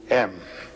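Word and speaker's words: AUM: It's written a U m. You start in the back of the mouth. Ah, and then oo. You fill the mouth and m closes at the mouth.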